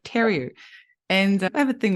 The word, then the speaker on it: Theriault: I said theory instead of terry.